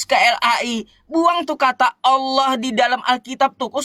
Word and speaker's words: Allah: Kalaunya kosakata bahasa aslinya Allah jangan kau ubah Allah. Udah betul bahasa Arabnya Allah. Lalu kalian ubah Alah.